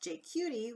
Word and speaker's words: JQT: Hello everybody, and thank you for tuning in to JQT Vancouver's Jewish Queer Trans Heritage Month. My name is and I help run JQT Vancouver. Pronounced JQT, we are a secular, culturally